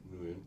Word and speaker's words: Nguyen: How do you pronounce Nguyen? Nguyen.